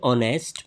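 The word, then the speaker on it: honest: So right option is option option B एन ही इज एन ऑनेस्ट मैन एन ही यहां correct option क्यों है? ऑनेस्ट vowel sound से start होता है। एच यहां पर साइलेंट है।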